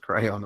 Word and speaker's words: Creon: rule of theme Oh Creon yeah but I'll pray on the drama teacher said it's pronounced crayon apparently first okay it's